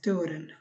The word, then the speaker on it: turen: ওই থ, বাট এইটারটা normal টর মতো হবে, তুরেন, তরসুকা তু যেটা, সেখানে হবে থর, এখানে হবে তুরেন, এরকম।